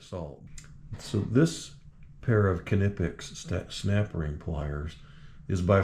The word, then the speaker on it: Knipex: And yes, these German pliers, pronounce the K. I looked into it cuz I was calling them Nipex. And it is indeed Knipex.